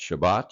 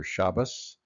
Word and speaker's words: Shabbat: and keep it holy pronounce shabat you might also hear shabas or shabos uh in the pronunciation again it happens once